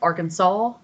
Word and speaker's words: Arkansas: I don't know why it's pronounced Arkansas. It doesn't have a W on the end, but it could be a Native American word.